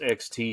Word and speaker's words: XTC: Well, yeah, but it's usually pronounced XTC.